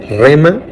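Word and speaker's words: rhema: una palabra griega que se escribe con las letras r r h e m a rema como si fuera de remar pero sin r y después de la r va una H rema esta Jesús palabra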